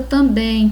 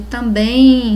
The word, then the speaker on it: também: Na pronúncia de também se percebe o som de M em som de I, com o som de I.